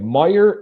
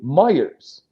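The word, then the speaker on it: Meijer: But so many people say Kroger's and so many people say Myyers. Yeah. We we prefer lurker. We prefer Meyer as well.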